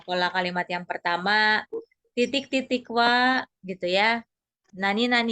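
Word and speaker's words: は: Meskipun dibaca wa, tapi ditulisnya dengan hiragana ha ya. Alena-san ini. Ini pakainya hiragana ha, bukan wa, tapi dibacanya wa.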